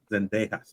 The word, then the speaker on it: Zendejas: What do you think about Downs and I don't know how to pronounce that last name. Zendejas.